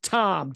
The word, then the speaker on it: Thom: Tuning in with Thom, T-H-O-M. Don't forget the H. The H is silent, but I'm not.